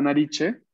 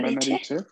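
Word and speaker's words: narici: La nariche. La nariche. Recordemos que la C se pronuncia siempre ch en italiano.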